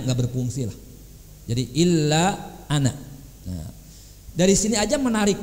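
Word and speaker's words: أنا: Ana itu ada alifnya ya. Tapi semua kata ana dalam Quran, dalam bicara sehari-hari ulah dibaca panjang. Ana ulah. Ana cina 2 harokat opat, jangan. Pendek, ana.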